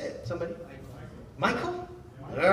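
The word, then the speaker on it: Michal: Michelle. How do you say it? Somebody? Michael?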